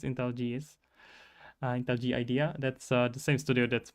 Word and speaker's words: IntelliJ: So if you are using to IntelliJ, how do I pronounce it even? Intel G idea, I guess. I know it's Intel JS, but apparently I'm completely wrong. It's Intel GS, Intel G idea.